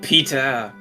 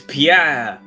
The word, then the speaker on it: Pierre: My name is not Peter. It is Pierre. I tell you, I just thought like that was how you say it without the accent.